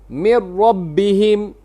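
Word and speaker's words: مِنْ رَبِّهِمْ: Kita tidak lafazkan nun dan tidak ada ghunah. Tidak ada tidak ada ghunna.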